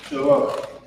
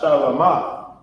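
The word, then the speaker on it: שלום: But this is Shalom. Notice that it's not Shalama, because in ancient Hebrew, we have these lines underneath the characters to pronounce, for its pronunciation of the word.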